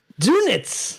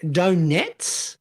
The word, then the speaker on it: donuts: let's go back again is she pronouncing it donets donets yeah it sounds like donets donets like is in you know Nets made out of dough yeah Nets made out